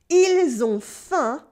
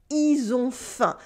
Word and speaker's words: ils ont faim: Ils ont faim becomes ils ont faim. The L is silent, but the S still sounds like a Z before a consonant.